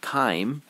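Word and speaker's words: chyme: that this liquid is called K and it's spelled with a CH K and it's a soupy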